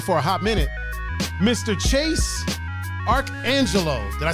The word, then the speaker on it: Chase ArchAngelo: Chase ArchAngelo.